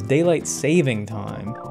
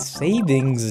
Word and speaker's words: daylight saving time: have what's known as daylight saving time which is mispronounced as daylight savings time it is not savings it is saving fun fact for all